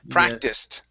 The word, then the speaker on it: practiced: started okay much better this word here practiced giving me a t sound here at the end practiced it okay one more time